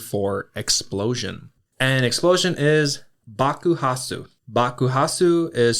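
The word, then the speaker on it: bakuhatsu: And explosion is Bakuhasu. Bakuhasu is spelled B A K U H A T-Su.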